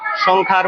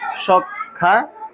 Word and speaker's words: সংখ্যা: কেননা সংখ্যার মধ্যে ক হচ্ছে অল্পপ্রাণ ধ্বনি এবং খ হচ্ছে মহাপ্রাণ ধ্বনি। অল্পপ্রাণ এবং মহাপ্রাণ ধ্বনির উচ্চারণের ক্ষেত্রে এই দুইটা শব্দ একসাথে উচ্চারিত করতে হলে উচ্চারণ হয় সংখ্যা বা সংখ্যা।